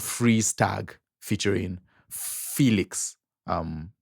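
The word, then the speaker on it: Phoelix: one it's a song called freeze tag featuring Felix um pronounced I mean spelled p h o e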